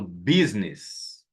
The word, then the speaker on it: business: E aqui você tem um lugar onde a letra U é muda e a letra I tem som. Onde a letra U tem som e a letra I é muda. O oposto de uma palavra e outra. Ó lá, eu falo build, build e falo business. Business.